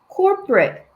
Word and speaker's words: corporate: corporate는 co하고 o 같은 소리가 나면 안 되고 corporate.